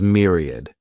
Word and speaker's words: myriad: the next noun is Myriad this word has three syllables and the stress is on that first syllable mean Mir sounds like mere Myriad a myriad is